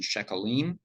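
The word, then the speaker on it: sheqalim: They decided to stop using the transliteration shekalim, which confuses Anglophones because we're not used to pronouncing a Q like a K. It's more of a French thing.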